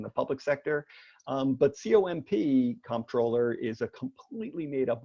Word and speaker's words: Comptroller: If I'm thinking about it, I pronounce it Comptroller. Right. Comptroller. Right. And if I'm not, or if I'm really worked up about something, I'm the controller really easy. And neither really matters all that much.